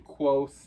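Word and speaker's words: Kvothe: untrustworthy narrative from quo pronounce his name quo it's spelled KV o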